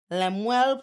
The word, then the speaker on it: Lemuel: Because Lemuel Plummer.